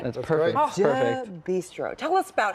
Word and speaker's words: Deux Bistro: You guys run Nicolas Eatery and Deux Bistro. Did I say it right? That's perfect. Oh, Perfect. Deux Bistro.